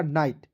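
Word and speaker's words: night: का नान लिख दीजिएगा आई जीएसटी का उच्चारण दोस्तों आइट के रूप में करेंगे तो क्या हो जाएगा नाइट एन आई जी एस टी नाइट clear चलिए दोस्तों देखते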